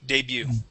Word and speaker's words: debut: our next word here is debut debut debut without T yeah without the T debut okay French word okay um uh